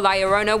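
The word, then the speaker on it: Llorona: hailing from Hispanic folklore liarona which I'm pronouncing correctly now after you guys yelled at me in a previous video is also known as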